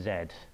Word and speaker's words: Z: in in the pub last night this is pronounced Zed um sorry you're all going to hate that